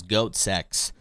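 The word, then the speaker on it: goatse: the website goatsy docx which was intended to proun be pronounced as goat sex although the suffix CX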